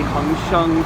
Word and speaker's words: Hang Seng: In Mandarin it would be Hang Sheng, but the robotizations here are based on Cantonese.